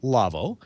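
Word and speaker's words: Lawo: i do is because it's a german company and it's pronounced lavo uh but it's spelled l-a-w-o and that means if you want to go to the website for lavo you'll need to type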